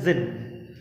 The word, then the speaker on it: Djinn: Presently there came along the जिन, यहाँ पे देखेंगे डी जिन लिखा हुआ है, DJINN, लेकिन इसकी प्रोनाउंसिएशन है जिन, डी साइलेंट है यहाँ पर।